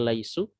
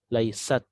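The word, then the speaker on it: ليست: Laisa atau di kata laisu ya tidak tidak sukun Kenapa karena bertemu wau Jadi bukan Lais tapi meskipun bertemu dengan tak sukun ya tak sukun bacanya bukan Lais tapi laisat jadi huruf sin-nya masih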